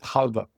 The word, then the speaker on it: halva: Because het is a really big problem for non-Hebrew speaking people, Absolutely. as well as the accent on the second syllable. People are not used to that.